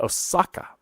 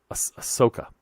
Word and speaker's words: Ahsoka: be the case but osaka ahsoka guys see i just said it wrong ahsoka saka again ahsoka um i i i'm